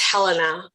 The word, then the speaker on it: Helena: Your first name is pronounced Helena.